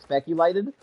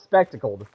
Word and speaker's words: spectacled: For whatever reason, I keep wanting to say speculated. I know it's spectacled, but for some reason, I always want to say speculated.